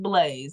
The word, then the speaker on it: Blazee: on here yeah it's and it's pronounced Blaze not Blas not blaz e I don't know some people be some people be saying some crazy it's just blaze y'all that's it iall